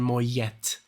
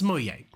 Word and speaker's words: Moyet: I think I would say Allison Moyette or something like that. I would pronounce the T because I thought it was French or some stuff, but it's Moyet.